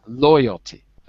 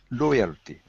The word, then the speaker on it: loyalty: absolutely by the way listen to the stress in the word loyalty stress is on the first syllable loyalty loyalty that's it and Raphael